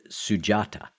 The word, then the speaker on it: Sujata: important part of the story of the Buddha, Sujata. Am I pronouncing that Mhm.